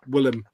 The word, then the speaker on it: Willem: smoke the blow with William Defoe nice and it's it's all about how they didn't even realize how to pronounce um Willem they thought it was William yeah not well but um